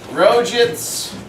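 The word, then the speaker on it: Roget: to tell you what rojits is that how you pronounce it it's Rogers let's actually I should be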